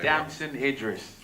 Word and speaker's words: Damson Idris: Damson Idris.